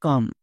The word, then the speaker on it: come: কারণ এখানে কম হবে না, এর উচ্চারণ হবে কাম।